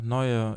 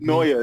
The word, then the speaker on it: Neue: Neue. It means Neue, yeah, sorry, Neue.